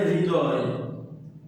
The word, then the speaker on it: হৃদয়: একইভাবে পরীক্ষা তোমাদের আসতে পারে হৃদয়, হৃদয়। এটার উচ্চারণ কি? এটার উচ্চারণ কিন্তু এরকম, এইচ আর আই তারপরে দ অন্তস্থ, হৃদয়।